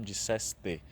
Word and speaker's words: disseste: pessoa que disse, então disseste. Então cuidado para a gente pronunciar bem essa expressão.